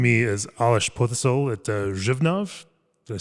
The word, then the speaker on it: Břevnov: Joining me is Aleš Potěšil at Břevnov. Did I say it correctly? Yeah, perfect. Okay. I'm working on my Czech pronunciation on this entire trip.